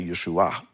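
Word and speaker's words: ישוע: So in Yeshua, it has the patach, I think it's the patach, and which is an ah sound, and so that's why we say Yeshua.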